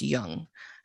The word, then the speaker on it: Jung: So for those of you who aren't in the depth psychology field, you will recognize his name as being spelled Jung, pronounced Jung, and probably not even pronounced that because I speak English and I'm not good at it.